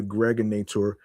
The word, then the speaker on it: Gregonator: I'm your man, aka the Gregonator. Rhymes with now or later, your host with the most.